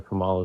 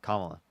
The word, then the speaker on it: Kamala: tell me this you think Joe Biden or Kamala is more qualified for Kam Kam is it Kamala Kamala Kamala Kamala Kamala Kamala it's it's how their name is pronounced it's Kamala okay so so who who's more qualified you